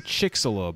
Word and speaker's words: Chicxulub: So I'm hearing Chicxulub a lot.